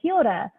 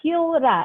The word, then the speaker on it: kia ora: It's a way of saying hello, kia ora. It's a bit hard because you don't have to. You can say kia ora, but you try and roll your R.